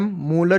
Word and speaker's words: मोलर: इसका simple capital M, मोलर जिसको हम बोलते हैं, लिखते हैं कैपिटल M पर इसका प्रोनाउंसिएशन होता है मोलर, या हम इसको मोल पर लीटर भी लिख सकते हैं।